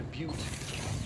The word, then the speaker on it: Butte: That's pronounced Butte.